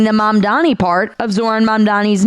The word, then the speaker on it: Mamdani: Babbel, people have a tough time saying the Mamdani part of Zoran Mamdani's name. These New Yorkers prove that to be true. Mamdani, Mandami. Is that how you say his name? Mandami? Mandami. Front runner, Mondoni. Another mispronounced word that even President Trump butchered earlier